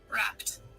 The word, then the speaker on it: rapt: Wrapped. Yep, it's the same. It's just wrapped with a T instead of an ED.